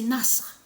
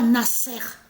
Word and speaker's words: Nasr: Donc de l'autre côté, parce que le vrai nom se prononce, je veux dire, c'est Nasr. C'est pas Nasser de tout ce qu'il raconte.